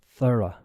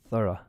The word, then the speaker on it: thorough: or exhaustive a few more seconds okay the pronunciation of this word is thorough thorough okay it doesn't make sense because nothing in